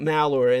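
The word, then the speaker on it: Malheur: way the malor occupation the malor is spelled m a l h e Ur if I remember so malor and that's of course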